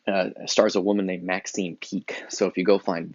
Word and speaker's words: Peake: way the version uh stars a woman named maxine peake so if you go find that version um